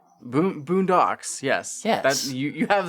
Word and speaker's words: Boondox: Boondocks. Boondocks. Yes. That you you have the the emphasis on the correct syllable.